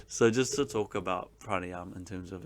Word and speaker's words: pranayama: practiced so the word pranayam or pranayama as some people say you're not supposed to pronounce the last a but it's all good